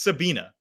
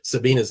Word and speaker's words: Sabine: In German, it's pronounced Sabina.